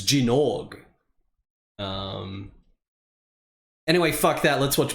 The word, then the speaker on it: Gynoug: It's called Jinorg. Jinorg. It's pronounced Jinorg.